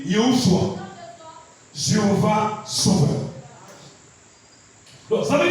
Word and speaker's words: Yehoshua: Va fouiller en hébreu Josué ou Jésus, ça se dit Yehoshua, Jéhovah sauveur.